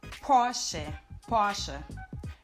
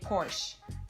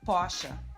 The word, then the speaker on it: Porsche: Of course, the most known are this is actually pronounced in German Porsche. In English, most people would say Porsche, but in German, it's actually Porsche.